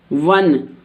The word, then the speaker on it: one: The reason of this is here I am pronouncing this o व। यहाँ पर मैं इसे क्या बोल रही हूँ? वन, व। इस ओ को मैं क्या बोल रही हूँ? व। और दिस इज NE, न, वन।